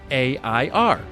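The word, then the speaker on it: heir: e i r how can I distinguish the pronunciation of the words air and air A I R thank you and congratulations for the good content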